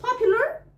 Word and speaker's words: popular: طب most popular الكلمه دي ما اسمهاش النطق الغلط اللي احنا اتعلمناه في المدرسه، هي اسمها popular.